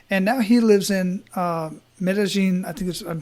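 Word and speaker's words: Medellín: And now he lives in Medellin, I'm pronouncing that right, Medellin, Colombia, like where the drug lords are at, and people get killed every single day.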